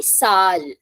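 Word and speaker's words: Zahl: iation will be S so this word z a h l pronunciation will be Sal s pronunciation starting from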